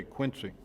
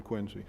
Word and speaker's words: Quincy: go out of Quincy people try to make you say Quincy and you always have to say no that might be how you say it in Illinois or wherever you're from That's not how we say it in Massachusetts we're from Quincy so